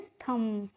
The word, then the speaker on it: thumb: अब है THUMB, तो यहाँ पे जो फ्रेंड्स बी होती है वो साइलेंट होती है, इसका हमें प्रोनाउंसिएशन नहीं करना होता, तो इसको हम पढ़ते हैं थम। थंब नहीं पढ़ते हैं, क्या पढ़ते हैं? थम पढ़ते हैं।